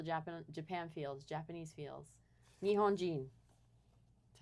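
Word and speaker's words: 日本: Nihon.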